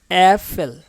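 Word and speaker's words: Äpfel: আমরা পূর্বে পড়ে আসছি আ, প্রথম অক্ষরটা ছিল জার্মানির আ, বাট এটা হচ্ছে এ, অ্যাফেল।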